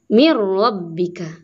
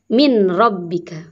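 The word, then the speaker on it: من ربك: Tulisannya min rabbika tulisannya. Tapi dibacanya mir rabbika. Mir rabbika. Tidak boleh min rabbika.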